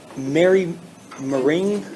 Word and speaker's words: Moring: Um Mary Moring? I hope I didn't butcher your last name. No, that's fine.